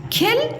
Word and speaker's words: खिल: क्या लिखा हुआ है ख में छोटी की मात्रा खी और ल खिल और ख में बड़ी की मात्रा खी और ल खील खिल और खील तो कौन सा राइट है खिल फूल खिल गया